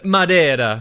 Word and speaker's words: Madeira: Yet instead, here you are, sucking down Madeira wine like it's the first job you've ever had. Well, Mary, I just thought it was about time someone did some sucking in this house. And it's pronounced Madeira.